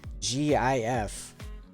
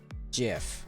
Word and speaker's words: GIF: you gotta create the gif uh moving photo template says it's Jif in addition there are logical reasons in the English language why we would want it to be Jif and not gif it was coming Oscar